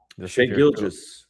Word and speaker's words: Shai Gilgeous-Alexander: How do you How do you pronounce SGA's name? Shai Gilgeous-Alexander.